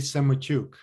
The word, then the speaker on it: Semotiuk: i do us and canadian immigration law semachuk am i pronouncing it correctly yeah with you in